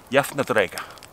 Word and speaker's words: Jafndægr: also spring, but Vár, and that is called Jafndægr.